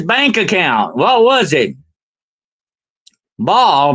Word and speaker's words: Baal: Baal, B-A-A-L, the god Baal, or some people pronounce it Baal.